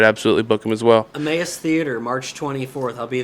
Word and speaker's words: Emmaus: I always used to mispronounce Emmaus as a mouse.